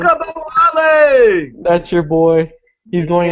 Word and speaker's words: Ogunbowale: Oh yeah, pronounce his last name. Okabawale!